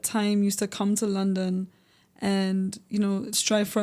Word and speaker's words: LunDun: So, um, there's no O's, just U. So, L U N and then capital D U N. London.